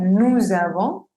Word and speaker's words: nous avons: Por ejemplo, aquí termina el nu con una S. Vamos a pronunciar nous avons, z.